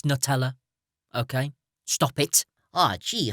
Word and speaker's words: Nutella: words all right okay it's not new teller it's Nutella okay stop it ah